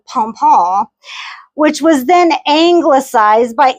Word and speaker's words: pompon: You have to say it like that, pompon, which was then anglicized by English speakers to pompion, which does not sound fancy at all.